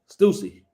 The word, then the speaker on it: Stussy: Stussy.